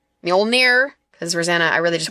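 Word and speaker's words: Mjölnir: I always ask my husband, I'm like, the hammer that sounds like meow, meow.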